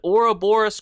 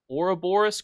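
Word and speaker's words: Ouroboros: XP scroll and an Ora Boris Crown crate which I'm pretty sure that's how you actually pronounce it because everybody's always like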